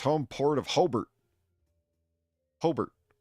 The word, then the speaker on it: Hobart: Hobart Hobart. No, it's like robot.